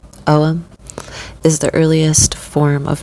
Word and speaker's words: Ogham: Ogham, pronounced Ogham, is the earliest form of known writing in the Irish language.